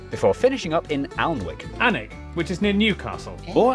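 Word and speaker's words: Alnwick: in quernmore quma before finishing up in alwick anik which is near Newcastle or as the people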